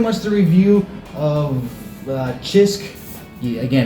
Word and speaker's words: Cisk: But, uh, so yeah, that's pretty much the review of uh Chisk. Again, it's a CISK, but you pronounce it with a It's not bad.